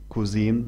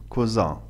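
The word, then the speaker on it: Cousin: الخال واو ابن الخال فهنا ينطق كوزا ابن العم ولا نقول كوزيم نقول كوزا وهنا لناتي الى القاعده الاولى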